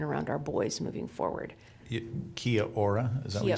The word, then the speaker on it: Kia ora: Kia Ora, is that what you Kia said? Ora, is that how you say it? Kia Ora.